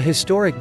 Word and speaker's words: historic: A historic day, the h is pronounced. Historic starts with an h sound.